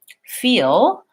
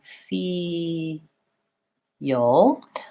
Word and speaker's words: feel: practice so for example I'm gonna try feel and I'm gonna think about it as being fee yo I'm adding this little Weiss on because when I go from the e to the UH by I'm linking those two sounds yo yeah and there's kind of a yeah in there so feel feel I'm